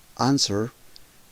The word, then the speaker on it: answer: Answer. Importante la pronunciación, la W no suena.